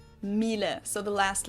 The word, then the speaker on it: Miele: And it's not exactly pronounced wrong in English, but English native speakers usually say something like Miele. So it usually sounds more like an A in the end, whereas in German we say Miele. Miele.